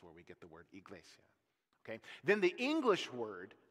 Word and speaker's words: Iglesia: it right I'm sorry it just does okay elasia that's the Spanish word for church that word that modern Spanish word for church Iglesia comes through a Latin route that goes back